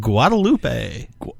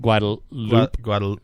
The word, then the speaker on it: Guadalupe: Apparently you don't say the E sound on the end of that. Guadalupe. Guadalupe.